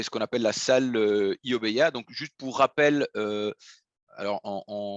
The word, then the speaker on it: iObeya: juste pour rappel alors j'ai essayé de faire le la prononciation japonaise correcte donc je crois que correctement on dit oh mais il y a donc avec un haut un peu long oh bah il y